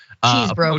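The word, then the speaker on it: Chesebro: And then five is Kenneth Chesbro. Cheese bro. Speaker 1: Some sort of bro. There had to be. If you're gonna say it, say it right. It's cheese bro.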